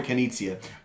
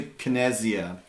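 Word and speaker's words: Konieczka: it was it's but we've been calling him corey kenitsia but it's actually kenesia i think uh corey kennedy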